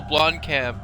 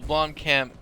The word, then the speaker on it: Blomkamp: Neil Blomkamp. I think is how it's pronounced his name.